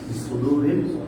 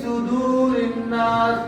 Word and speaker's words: صدور الناس: ওয়াসওয়াসি ইয়াওয়াস issue হ্যাঁ ফি সুদূরিল সুদূরিল না দেখেন আমরা যাদেরকে পড়াইছি তাদের থেকে একটু শুনেন বলেন না আল্লাযী ওয়াসওয়াসু ফি সুদূরিন নাস এটা পড়াইছি আসলে না